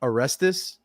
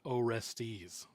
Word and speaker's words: Orestes: hard to pick but erestus orestes orestes oh i actually looked up how to pronounce that how do you pronounce it it is pronounced orestes orestes yes i love that